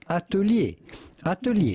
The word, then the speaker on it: atelier: artist or a designer how would you go about pronouncing this in French originally atulier but in English or American this would be said foreign look at him look